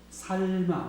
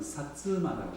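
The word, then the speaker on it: 薩摩: 여기 있는데, 그 맨 밑에 살마, 우리로는 살마 왕국이라고, 일본식 발음은 사츠마라고 해요.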